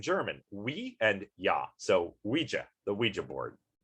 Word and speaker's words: Ouija: we and yeah so ouija the ouija board some of the mispronunciations you see of this online are are really hilarious though you know like like how do you use a luigi board or or something like